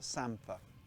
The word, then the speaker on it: samphire: pronounce this wrong but in norfolk we call it sampa other people in particular a mate of mine from yorkshire calls it samphire but it's not it's us norfolk people